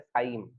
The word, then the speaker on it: chyme: यहाँ पे एक वर्ड मैंने यूज किया है, इसका pronunciation is नॉट चाइम, इट is pronounced as काइम। ठीक है, चाइम नहीं, काइम प्रोनाउंस करते हैं इसको।